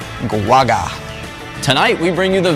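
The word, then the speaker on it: Guoga: self-named Butcher of Baghdad Tony G guaga so that's how you say it guaga tonight we bring you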